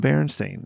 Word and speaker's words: Berenstain: It's in cursive, and there's already two E's before that A, and so you're doing Berenstain.